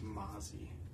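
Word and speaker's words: Mazi: yellow Chris Jones I don't know how you pronounced that Maisy but it's ma a zi it's Mazy looks like na Nolan Smith Darius Darius Davis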